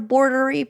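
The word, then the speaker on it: Boardery: Um it's spelled like board, you know, like a shakureri board and then e r i e.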